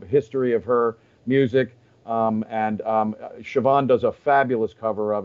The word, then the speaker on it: Siobhan: Everything Siobhan does is gold. She has a new record. Go to Siobhan O'Brien. And again, it's S-I-O-B-H-A-N, pronounced Siobhan. It's the Irish in it.